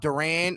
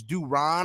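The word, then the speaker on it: Durán: It's not Durant, it's Duron or something like that, but it's kind of hard to say.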